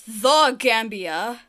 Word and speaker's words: Gambia: And Gambia. The official name of the country is the Gambia. This country requires the Arctic, which is Portugal, to avoid the confusion with Zambia.